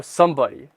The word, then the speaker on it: SMBDY: Oh, Somebody. It's supposed to be like short form for somebody, I guess. SOMEBOD. Oh, so it's somebody but without the vowels.